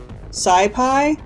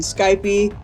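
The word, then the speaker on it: SciPy: with phds this is pronounced numpy this is pronounced scipi um however when I'm doing it in you know in my head I always pronounce it numpy and Skypey because as we might discover I am not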